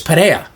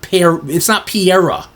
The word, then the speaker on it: Pereira: It's not even funny because it's Pereira. It's very easy to say his name, Pereira. It's not Pereira.